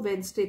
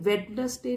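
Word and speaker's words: Wednesday: अंतिम संस्कार होगा वह वेनसडे को होगा वेनसडे में डी को साइलेंट रखते हैं इसको नहीं वेडनेसडे नहीं बोलते हैं वेनसडे बोलते हैं तो उनका जो अंतिम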